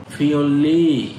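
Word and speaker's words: 편리: খসি বিষয়টি, থউক আরো, ফিওল্লি হেজিয়ত সুমিদা মানে সহজ হয়ে ওঠে। এই যে আপনারা জানেন নিউনের পরে যদি রিউল থাকে তখন সেটার উচ্চারণ হয় লয় ল, তাহলে এটা হবে ফিওল্লি হ্যাজিয়ত সুমিদা মানে সুবিধা হয়ে গেছে।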